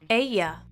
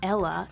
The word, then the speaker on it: ella: Ella. Usted. Now remember, the double L is pronounced like a Y, so it's not ella, it's ella.